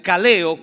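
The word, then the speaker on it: καλέω: que se llamamiento que que se pronuncia kaleo con k y hace referencia a un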